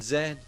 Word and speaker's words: zed: Something pretty major, I think, that separates Canadian English from American English is how it pronounces the last letter of the alphabet. Yes. To most Canadians, they'll tell you that they are unified with the British on this one.